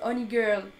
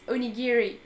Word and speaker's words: onigiri: properly yeah I said I've heard of people thinking I'm called Oni girl but no it's onigiri today someone called you